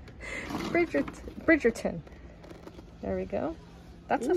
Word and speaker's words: Bridgerton: English properly can't expect me to you know pronounce this properly but anyways this is brierton bridon brid I still said it wrong bridg Bridgerton there we go that's a fun image as